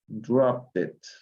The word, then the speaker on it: dropped: Dropped it. Dropped it. La E no se pronuncia aquí. Dropped it.